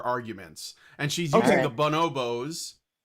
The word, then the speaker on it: bonobo: And she's using the Bonobos cuz that's how you say it. It's bonobo.